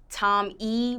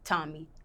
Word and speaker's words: Tommi: People pronounce it all types of ways. Tom, they don't say Tommy. They'll be like Tom E, but not like Tommy, but it's Tommy.